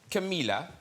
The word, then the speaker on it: Camila: H So that's from the album uh Camila.